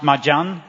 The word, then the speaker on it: Midian: And today it's pronounced Majan among the Muslims.